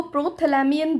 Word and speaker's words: Prothalamion: इट इज़ प्रोथैलेमियन एंड नॉट प्रोथैल्मियन। बहुत सारे लोग इसको प्रोथैल्मियन प्रोनाउंस करते हैं, which is very wrong. The correct pronunciation to this is प्रोथैलेमियन एंड इट्स अ poem written by Edmund Spenser, not poem.